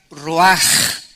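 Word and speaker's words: רוח: es la palabra hebrea Roach que se pronuncia raj la ch en el hebreo se pronuncia como j y que es la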